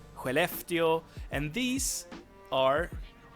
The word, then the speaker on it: Skellefteå: few cities Umeå Luleå Skellefteå and these are pronounced like this but I mean you have the SK in Skellefteå which also produce that sound very nice but that's not what